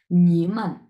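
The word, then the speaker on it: 你们: তাহলে প্রথমে হচ্ছে নি তিন নাম্বার টন এবং পরেরটা হচ্ছে নিউট্রাল টন সো একসাথে আমরা কিভাবে উচ্চারণ করব নিমান নিমান হ্যা এর মানে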